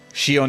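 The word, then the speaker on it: Xion: It's not Shon. It's not Shon. Shion is safe and well, weirdly enough.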